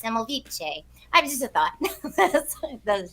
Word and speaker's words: Semmelweis: I do think though that since he's from Vienna, it might be pronounced Semmelweis.